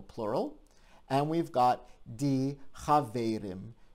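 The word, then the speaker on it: חבֿרים: And we've got die Chaverim. Notice that the vowel changes from an E to an A, and the stress moves from the first syllable to the second syllable.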